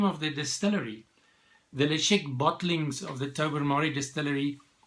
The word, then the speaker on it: Ledaig: One would have thought that the way you pronounce it is Ledaig, but if you're on the Isle of Mull, then you pronounce it Ledaig, 19-year-old single malt from Scotland.